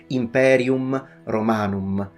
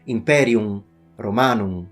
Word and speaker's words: Imperium Romanum: To pronounce it like a real Roman, you need to pretend that the M is not there, which is interpreted by linguists as being fully nasalized. So the proper pronunciation would be Imperium Romanum.